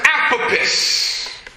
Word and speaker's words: Apopis: And of course, the symbol for this lower base level is the coiled snake, known as Apopis.